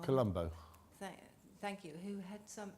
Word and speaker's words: Colombo: a mention of, I think, of an Italian Carambalo or something like that. I've said it wrong. Colombo.